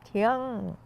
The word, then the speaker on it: Tiang: So in Hokkien dialect, is pronounced as Tiang. Oh, That's why our surname is Tiang.